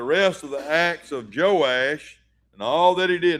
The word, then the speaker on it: Joash: But his name is they yes pronounced Joash, too.